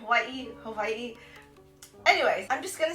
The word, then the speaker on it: Hawaii: it the correct way I know a lot of us that live on the mainland say Hawaii when it's actually called Hawaii day you even say it right ye Hawaii anyway I'm just gonna